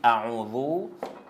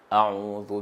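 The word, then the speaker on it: أعوذ: Quand on dit, on récite A'udhu avec Zal, c'est pas avec Zaï. Bon. On prononce comment? On prononce A'udhu billahi minash shaytanir rajim. A'udhu billahi minash shaytanir rajim.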